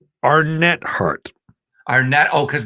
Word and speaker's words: Arnett: the music sure who wouldn't be and it's pronounced your last name how does it aren't it it's our net heart our net oh cause that okay so